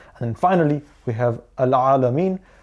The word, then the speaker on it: العالمين: And then finally we have Al-Alameen. Ain is obviously, as you know, a very guttural sound, and to remember to not too much prolong the ending of this verse.